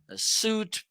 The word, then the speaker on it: suite: StreamYard, with Microsoft Office Suite products. You can use on Adobe Suite, whatever. Sweet is how it's pronounced. Suite. Like Okay. the taste and the flavor, sweet.